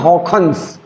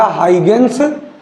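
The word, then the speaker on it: Huygens: ये जो पहला वर्ड लिखा है HUI, इसको बोलते हैं हॉ, हॉ, क्या बोलते हैं, हॉ। और ये जो GE लिखा है तो डच भाषा में इसको खॉ कहा जाता है। तो अगर डच में इनका नाम सही से प्रोनाउंसिएट करेंगे तो इनका नाम है हॉखन्स।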